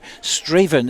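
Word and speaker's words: Strathaven: is going ahead but it's been switched to straven is that how it's pronounced David Ferguson straven is it art yes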